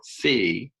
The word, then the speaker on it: phi: since it's an addition is called fee it's spelled pH I so this is not theta right Thetas got a horizontal line it's fee the Greek character fee and so we write